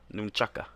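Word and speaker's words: nunchaku: By the way, do you know the proper way to say nunchucks? Nunchuck. Nunchaka. Nunchaka. Nunchaka. That's the Japanese pronunciation.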